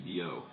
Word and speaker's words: Billout: It's spelled like Guy. It's spelled Guy Billout, but it's pronounced Guy Biot.